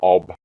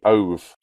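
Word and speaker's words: אוב: Ov. It's pronounced ov, not ob.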